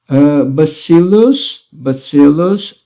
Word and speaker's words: bacillus: Bacillus and bacilli, tá? Aqui toma cuidado que a pronúncia é diferente. Bacillus, bacilli, tá? Então, a forma plural fica bacilli.